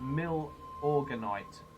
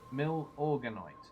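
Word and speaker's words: Milorganite: The Lazy's telling me it's pronounced Mill-Organite. Mill-Organite.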